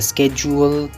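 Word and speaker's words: schedule: तो first example है स्केजुअल, दूसरा एग्जाम्पल है नोड्यूल, तीसरा एग्जाम्पल है फ्रोजुलेंट, चौथा एग्जाम्पल है फ्यूज्यूल।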